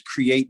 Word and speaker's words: KRIATE: I come and I represent my company, with name is Create You, and that's spelled KRIATE, and it's an acronym that stands for Kids Realizing Initiative and Talent Evolves.